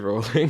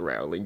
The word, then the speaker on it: Rowling: Also, yeah, just to be clear, her name is pronounced like Rowling, not Rowling.